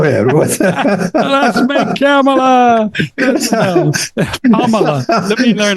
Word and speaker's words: Kamala: And they said you start off with a comma, and then you add Mala to it, so it's Kamala.